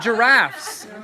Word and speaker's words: giraffe: Giraffes.